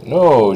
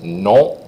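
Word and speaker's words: non: no obviously is no the trick here for Americans no you're pushing that n up into your nose you're nasalized that last sound so you're not going no you're going no you got that little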